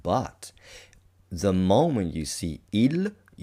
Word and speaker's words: il: So, without further ado, let's take a look at the definite masculine article, which is ill, not ill. Ill. You use the L that you pronounce with the tip of your tongue.